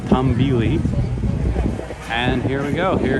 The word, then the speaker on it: Tumbili: coming out next year tule i had the name wrong is tom vili and here we go